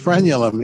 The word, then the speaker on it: frenulum: go and that's the torn uh is it pronounced frenulum well it it's yeah it's the frenulum is what it would be torn but this